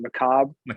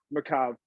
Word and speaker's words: macabre: like so Macabre or I don't know how to pronounce it Macabre yeah there we go Macabre you know the r is silent it shows the e it's like you know it's like chiropractor but anyways but anyways